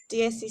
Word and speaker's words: dieciséis: Thor sing Keane sing DSE safe notice that this word has a written accent mark on the e in the last syllable the syllable seis diecisiete dieciocho diecinueve bang